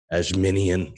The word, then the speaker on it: Adjemian: Conversing with Chris and Misa, the podcast featuring Adjemian. Hey. Dude, I just fucking butchered your name, dude.